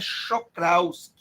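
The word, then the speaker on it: Czochralski: Hélder está escrito corretamente agora a pronúncia que não é do jeito que as pessoas dizem as pessoas dizem que os horários não a pronúncia é show Claus é porque isso é polonês mas para mim tanto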